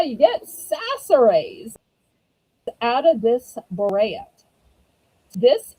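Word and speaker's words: Chachere's: it could be pronounced Sasserays. Well, here's the scoop. When we pronounce French words, C sounds like an S, unless there's this little number five thing under the C, which is called a cedilla.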